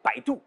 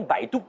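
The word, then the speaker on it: 百度: B comme Baidu, l'équivalent du Google chinois. Bai se prononce comme Bai dans Bye Bye. Et Du se prononce Tu comme l'atout et non pas Du.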